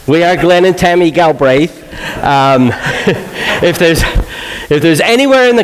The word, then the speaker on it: Galbraith: there's quite a few Galbraiths around the Marshall area, but it is Galbraith, with an emphasis on the second part there.